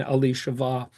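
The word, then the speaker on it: אלישבע: You might not recognize the Hebrew pronunciation Ali Shava, but you would recognize the word Elizabeth.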